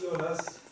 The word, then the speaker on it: Jonas: room and ask Jonas, do we pronounce it Jonas or Jonas, or how do we call you? You prefer Jonas or Jonas? It's Jonas. Jonas. Spanish people call it Jonas, so it's Well, up we to you.